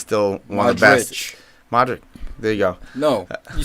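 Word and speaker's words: Modrić: Madrid reportedly interested in Christian Eriksen, but they don't want to push the button yet because Modric is still on top of his game.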